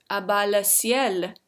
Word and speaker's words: A Bas Le Ciel: the second one is a baile CL that's how you pronounce his youtube name but his actual name